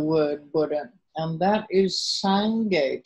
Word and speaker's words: Sangye: So we start with the Tibetan term for the word Buddha, and that is Sangye, 2 syllables, Sang, S-A-N-G, and the second syllable is Ge. Sometimes pronounced Sangye or Sangye, G-Y-E.